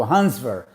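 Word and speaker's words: Hans Wehr: english then you have to go for to hansver hansver is spelled h-a-n-s-w-e-h-r hans ver he's german and he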